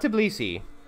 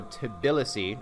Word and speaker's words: Tbilisi: just settle here and Tbilisi not tube Lisi I looked at it more closely and I realized there's an extra eye so Tbilisi I think that's how you pronounce it is my brand new